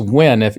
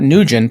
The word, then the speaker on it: Nguyen: Yeah, I have a buddy that Vietnamese guy, his name's Duy Nguyen, and it's pronounced Nguyen. If you see, it's not Nguyen. People always say Nguyen, Nguyen, and no, it's pronounced Nguyen, like WIN.